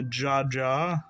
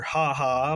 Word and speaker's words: Jaja: virtual world shell a Jaja or haha but it's spelled with like the Spanish pronunciation we'll put that aside